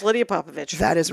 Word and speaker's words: Popovich: Popovich is spelled like Popovich. Popovich. That's correct.